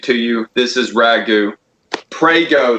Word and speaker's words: Prego: Prego, though, rhymes with Fago.